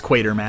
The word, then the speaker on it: Quatermass: I'm not sure how to say it. It's Quatermass.